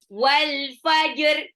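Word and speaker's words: والفجر: kegelapan Oke walfajr walfajr jimnya jangan lupa jynya itu e qqah jadi dipantulkan walajar Jim Tengah lidah bertemu langit-langit atas jadi kayak ngambang dia bukan tidak e dia harus tahan naas waktu bacanya walfajr Jadi bukan Hames tapi jelas jahr Oke alfajr ayat du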